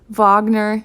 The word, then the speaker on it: Wagner: mendelson chopin schumann litzt wagner it's not wagner i thought it was wagner for the longest time but it's a german name so the w is pronounced like a v little tip trick you